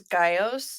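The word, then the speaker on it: Gyaos: Then after the third movie, which is Gamera versus Gaios, they pronounce those birds' names differently. I'm going with the one from our movie today. Our movie, yeah. We Our gotta go movie. Geos, baby.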